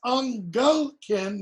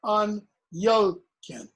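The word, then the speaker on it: Angelcynn: This is Angelkin, not Anyelkin.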